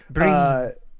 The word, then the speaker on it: Brian: It's Breen. But they spell it BRIAN the correct way.